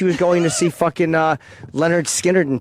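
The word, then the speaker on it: Lynyrd Skynyrd: Leonard Skinner is how you pronounce that. Leonard. No, not Leonard. Because it rhymes with Skinner.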